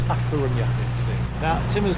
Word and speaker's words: A Coruña: Is it La Coruña or A Coruña? A Coruña. A Coruña. So I've been saying it wrong all these years. Well, I think in Castellano is La Coruña, but they call it A Coruña because it's a different language.